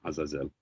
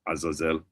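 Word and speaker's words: עזאזל: So here it's just transliterated poorly. So it's not really Azal. It's, if we read it in the modern pronunciation, it would actually be Atzal, with a tzadi, and Azazel is with a Zion, Azazel.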